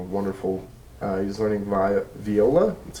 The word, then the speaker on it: viola: uh he's learning VI Viola that's how you say it I it's not Viola it's Viola just um the more you